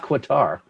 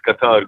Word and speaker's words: Qatar: aad is from cutter try to say it right cutter it's not quatar it is it is Qatar good evening everyone yes